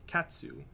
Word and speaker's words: katsu: and any Japanese word the syllable TSU in it is said like the TS at the end of the word cats a helpful word for getting the feeling of saying it is the word katsu which is delicious what's